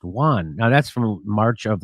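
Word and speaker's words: yuan: in their own denomination I think it's like it's pronounced Juan now that's from March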